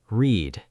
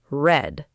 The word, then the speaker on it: read: The stays the same. But the pronunciation changes. Yes. Present tense, read. Past tense, read.